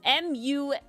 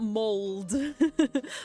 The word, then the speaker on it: mulled: No, M-U-L-L-E-D, mulled alley, like mulled wine. I'm very trying hard to pronounce it, so you could hear it. Mulled, not mold. Mulled.